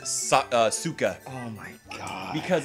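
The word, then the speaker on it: Sokka: pronounce it ong and they pronounce it sukkah oh my god because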